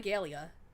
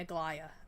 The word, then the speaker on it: Aglaya: I want a Galia, and then I mean Aglaya. I keep saying her name wrong. It's Aglaya.